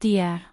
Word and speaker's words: Dai: Her name, Shi Dai, pronounced Dia, literally means stone butterfly.